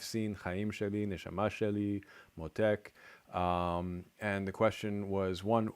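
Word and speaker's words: מותק: Motek. It's just on the first syllable.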